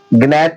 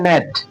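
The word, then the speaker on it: gnat: नहीं पता रहता वो गनेट पढ़ने की कोशिश करता है। गैट गनेट ऐसे पढ़ेगा। गट ऐसे पढ़ेगा लेकिन नहीं ये लिखा है नेट। नेट नेट नेट मतलब मच्छर। नेट मतलब मच्छर। देखिए एन से पहले इसमें जी है ना। ये कह रहा है एन से पूर्व जी।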